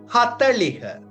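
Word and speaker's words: හතළිහ: 38 this 39 திஸ்நவய 40 என்றதுக்கு ஹத்தலிக ஹத்தலிக அப்ப ஹதலிஹ ஹத்தலிக என்று உச்சரிச்சங்கா சரி அப்ப 30 என்றதுக்கு திகன்னு ஞாபகம் வச்சிருக்கணும் 30 என்று சொல்லிக்க திஸ்ுன்னு ஞாபகம் வச்சிருந்தீங்கா சரி மிச்ச நம்பர்ஸ் பின்னுக்கு போதும்.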